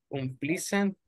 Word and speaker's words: unpleasant: A measure taken in advance to prevent something dangerous, unpleasant, or inconvenient from happening. Precautions? Precautions, okay. It's difficult to pronounce. All right, precautions. Now you say unpleasant. Unpleasant. Mm-hmm. Unpleasant. The letter A is silent.